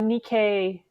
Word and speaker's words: Nikkei: first learn how to make mochi at the nikkei am i pronouncing that right cultural center yeah yeah that's